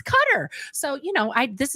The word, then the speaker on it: Qatar: things differently I'll tell you what nobody ever pronounced cutter correctly we all were like qar like yes but apparently it's cutter so you know I this is something I